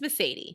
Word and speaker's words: Mercedes: And if you're wondering, how is it that we pronounce this name? It's Mercedes.